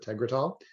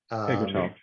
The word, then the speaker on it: Tegretol: And so she's taking a different drug, Tegretol, or I don't know how to pronounce it, Tegretol. Tegretol.